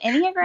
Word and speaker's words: Enneagram: Is it Enneagram?